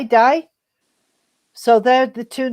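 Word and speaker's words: Dai: it die is it did they say die don't they d a i die so there are the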